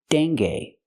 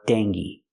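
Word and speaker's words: dengue: Deni or deni with a long e like green beans.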